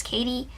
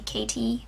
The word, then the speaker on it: Kadie: know, my name is Katie. It's spelled K-A-D-I-E, which most people call me KT, but it's not, it's with a D.